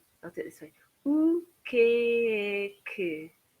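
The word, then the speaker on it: o que é que: So I often say this sounds like the word cake if you've got a strong northern English accent.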